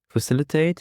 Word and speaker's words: facilitate: The stress is on the second syllable. Facilitate. Facilitate is a verb and it means to make something easier or help it happen.